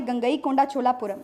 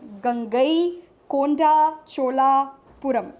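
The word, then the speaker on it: Gangaikonda Cholapuram: छोटा छोटा तोड़ के बोलेंगे, जैसे बड़ा सी एक जगह का नाम है गंगई कोंडा चोलापुरम, गंगई कोंडा चोलापुरम, ऐसा बोलेंगे तो it will be easy for अस to pronounce.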